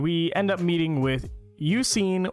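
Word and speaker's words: Eusine: end up meeting with you seen or I believe that's how his name is pronounced he is you know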